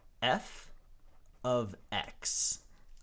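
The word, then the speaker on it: f(x): This here is, if you were going to read it out loud, you would say f of x.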